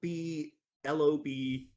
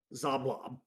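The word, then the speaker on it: Xoblob: the old zoblop shop which is spelled EXO B l-o-b zablob it's not blob yes um you guys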